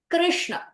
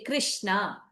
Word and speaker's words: Krishna: Krishna. This name grossly mispronounced. Why? Because nobody pronounces this correctly, and when you don't pronounce this correctly, this also does not get pronounced correctly. What happens is, if you make this a talavya shakara, you say krish, then you don't end up saying the na, you will end up saying the na.